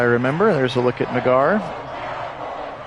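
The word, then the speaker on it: Naggar: There's a look at Nagar. Pronounced like cigar with an N.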